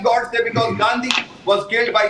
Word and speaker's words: Godse: Godse.